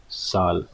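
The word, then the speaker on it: ذال: Okay, in Urdu we pronounce it as zal. Okay, zal, Z-A-L. It has a sound of zal or z.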